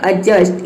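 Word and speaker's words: adjust: उसी तरह से यहाँ पे देखिए एडजस्ट, इसको प्रोनाउंस करते हैं एडजस्ट, इसमें डी साइलेंट है एडजस्ट।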